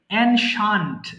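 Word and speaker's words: ancient: সঙ্গে বলেন microphone of রেখে হ্যাঁ প্রথমটা বলেন এনশান্ট যদিও আগের লেসনে পড়েছিলেন বাট এটা টাইম রিলেটেড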